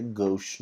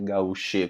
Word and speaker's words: gauche: A pronúncia dessa palavra aí é gauche, não é gauche, como meu aluno falou não, né?